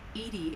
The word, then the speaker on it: EDI: a specific inquiry why are you named Ed Ed is the phonetic pronunciation of Eed that is an acronym for